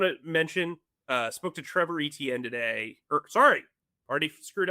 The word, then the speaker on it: Etienne: Orleans and said, "Look, you guys are pronouncing my name wrong. I've tried not to correct anybody cuz you then you have to correct everybody. It is Etienne."